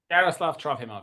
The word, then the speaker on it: Yaroslav Trofimov: Yaroslav Trofimov, yes.